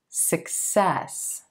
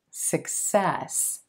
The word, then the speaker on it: success: Again, a lot of English learners put the stress on the first syllable in this word, so it comes out success. You want to shift that to the second syllable and stretch that eh as in red sound.